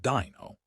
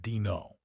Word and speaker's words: Dino: He squinted at the paper and said, "You're hired, Dino." He pronounced it Dino. "It's actually Dino," I told him, "like dinosaur."